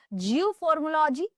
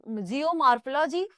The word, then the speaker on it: Geomorphology: है option A principle of जियोलॉजी option B जियो फार्मोलॉग या रो जियो मार्फो जीी from the earth माफ कीजिएगा इसमें जो जियो